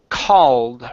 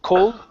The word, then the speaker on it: called: go to the word called right here this is an a sound instead of cold a a called called called New Horizons called New